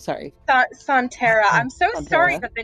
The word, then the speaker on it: Sontera: Am I the only one that's been pronouncing it correctly? I think so. Sontera, I named it after some Doctor Who aliens, so... Sontara, I keep wanting to call it Sontarans.